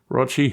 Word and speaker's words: Rotchy: And my hope is to actually meet Nurgling on location and to meet Rotchy, who rhymes with crotch, and a bunch of other folk in England in possibly May or April next year.